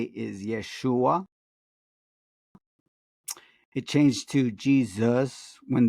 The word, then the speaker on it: Yeshua: modern linguists say that the proper pronunciation of Yeshua would have been at the time almost like taking the A off. So it would sound like Yeshu, Yeshu, or Yeshu, with a little hint of the L at the end, Yeshu.